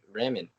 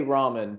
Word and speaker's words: ramen: make some rent right Raymond Raymond I say ramen but there's there's like five different ways you can pronounce that I'm not gonna correct